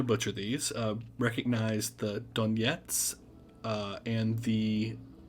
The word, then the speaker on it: Donetsk: for some reason um in russian versus english we'll emphasize an h sound in our words when russians will emphasize a g so the russian pronunciation of yeah we have the donetsk uh people's republic and